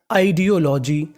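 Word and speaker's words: ideology: ओ आई डीओ एल ओ जी वाई लॉजी आईडियोलॉजी audio जीी audio जीी का मतलब होता है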